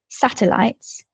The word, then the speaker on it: satellites: So you've got the word satellites. That E in the middle, the first E, is not stressed. It's a weaker syllable.